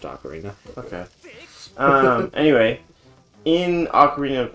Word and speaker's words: ocarina: It is definitely pronounced Ocarina.